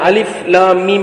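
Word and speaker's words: الم: அப்ப தொடர்ச்சியாக நாங்க ஓதுவது இதனுடைய ஓதல் முறையாக இருக்கிறது அலிஃப் லாம் மீம் இங்கே நாங்கள் அலிஃப் என்று ஓதிட்டு லாம் அப்படி என்று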